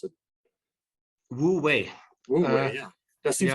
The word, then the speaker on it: Wu Wei: Speaking of, the central teachings of the Analects, tell us about the concept of Wu Wei, if that's even how you pronounce it. Wu Wei.